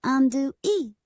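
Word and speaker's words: Andouille: I am Princess Andui. That's pronounced Andu e just like the spicy smoked sausage from Cajun and Creole cuisine.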